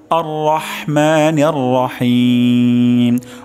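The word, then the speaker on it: الرحمن الرحيم: হিম এখানে হিম গলার মাঝখান থেকে হবে এবং হিম 3 আলিফ পরিমাণ টান হবে, অর্থাৎ টান দিতে হবে।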